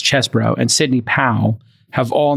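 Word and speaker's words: Chesebro: uh Kenneth Che chesbro it's spelled cheesebro but as chesbro and Sydney pal have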